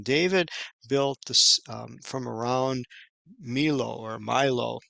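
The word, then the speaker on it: Millo: that says in David built this from around Milo or Milo it's pronounced Milo and in your English translations it would just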